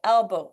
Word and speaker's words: elbow: Elbow, il faut retenir son souffle. Parce que c'est un E, les voyelles, on a tendance, mais non. Elbow.